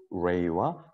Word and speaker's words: pray: 자, 그랬을 때이 pray와 play는 발음이 완전히 다릅니다. 이 R과 L 발음.